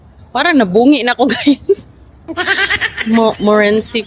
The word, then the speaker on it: Montmorency: Makunan yung ano, Morenci Falls. Parang nabungi na ako guys. Morenci Falls. Kasi silent T daw. Morenci Falls.